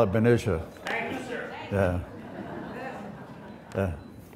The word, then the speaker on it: Benicia: Do you pronounce it Benicia or Benicia? Well, I call it Benicia.